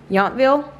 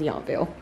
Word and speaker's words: Yountville: her say it babe she said Yountville how do you say it you feel yeah so I thought it was yawn feel so yeah we're gonna